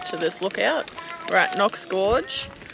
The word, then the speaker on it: Knox Gorge: I'm pretty sure it's pronounced Knox. Have a look at the spelling. Tell me that that's not a K. Hey? No, I'm just yanking your chain. It's pronounced Knox Gorge.